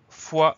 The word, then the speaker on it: fois: Donc on a une jolie lettre muette à la fin, le S qu'on n'entend pas.